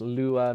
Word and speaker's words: Lua: Lua, pronounced Lua, means moon in Portuguese.